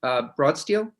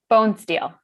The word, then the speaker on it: Bonesteel: Myers and Senator Perchlik and Libby, is it pronounced Broadsteel? Bonesteel. Bonesteel, thank you, Bonesteel.